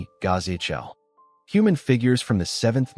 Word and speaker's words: Ghazal: The statues of Ghazal, pronounced Ghazal.